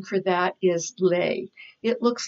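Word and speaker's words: lei: I wrote down was lay L e I so a lay is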